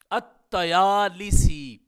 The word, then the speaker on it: الطیالسی: ساتھ۔ تو اس کا پورا اعراب اس طرح ہوگا، الطیالسی لام اور سین کے کسرہ کے ساتھ ہو جائے گا اور تا اور یا کے فتح کے ساتھ ہو جائے گا، تو اس کا تلفظ ہوگا الطیالسی۔ اب ہم یہ جاننے